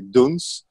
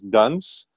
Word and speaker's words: Doens: as an author name my real name is actually dunes but in the states people would pronounce it as Dunn's which is not a